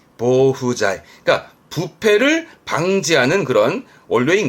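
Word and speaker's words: 防腐剤: 발음은 모후자이. 그러니까 부패를 방지하는 그런 원료인 거죠. 방부제, 보후자이.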